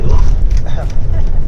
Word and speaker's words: Loch: That's how you say it properly, Loch.